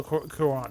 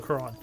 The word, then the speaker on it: Cuarón: I'm not sure how you pronounce his last name. I feel remember. bad. It's like Cuaro with the thing. Alfonso Cuarón. Okay. Alfonso Cuarón.